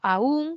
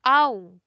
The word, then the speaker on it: aún: Pero de manera estándar, o sea, viendo a todas las variedades de la lengua, unos dicen la primera aún como hiato acentual y la otra la dicen aún como un diptongo.